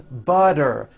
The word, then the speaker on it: butter: So if a letter T falls between 2 vowel sounds, which are voiced, so if it falls in the middle of vowels, then the T is pronounced as a D and the whole word is voiced.